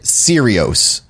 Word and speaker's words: Serios: the name of Ted serios it's Sirius without the u very bizarre names both